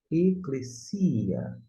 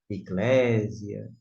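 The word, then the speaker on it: ἐκκλησία: Esta é a pronúncia, eclesia. Provavelmente você já ouviu falar eclesia, eclésia.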